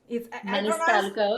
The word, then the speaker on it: Maniscalco: Maniscalco, yes. Yes, I pronounce it correctly.